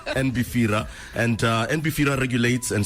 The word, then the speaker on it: NBFIRA: It's Beira or NBR. It's NB. N pronounce the N. The N is not silent. Not silent. NBR.